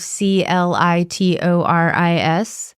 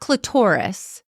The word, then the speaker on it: clitoris: question how do you what is the correct pronunciation of c l i t o r i s clitterus clitoris okay not clitorus clitoris CL Don't You Remember